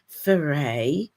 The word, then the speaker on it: Ferré: So I've got with me, for anybody that doesn't know, I've got Jane Ferré with me this morning. Am I pronouncing your surname correctly, Jane? You are.